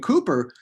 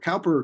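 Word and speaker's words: Cowper: the slave trade and cooper uh calper cooper they pronounce it different ways um he uh he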